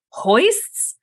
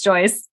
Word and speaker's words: joists: And I'm like, hoists? And they thought it was like funny the first time, but I genuinely didn't know how to say the word. My sister-in-law, who worked as an executive assistant for a construction company, like a huge construction company, was like, sis, it's Joyce.